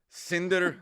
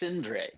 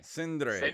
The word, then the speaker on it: Sindre: Cinder. It's not bad. It's not bad. But think of it as Andre, but Sin. So Oh, it's Sindre. Sindre.